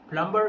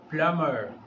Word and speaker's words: plumber: No, plumber is a wrong pronunciation. We pronounce it plumber. Repeat after me, plumber.